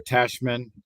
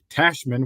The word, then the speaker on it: Tachman: me my friend is like the New York Yankees president or whatever Brian Cashman that rhymes with that so Tyler tashman welcome uh you to